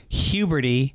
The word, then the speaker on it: Huberty: a guy who says my last name huberty pronounced like puberty well there you go